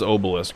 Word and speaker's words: obelisk: just not follow up is it obelisk or obelisk i guess it's obelisk right like a long o sound obelisk he was and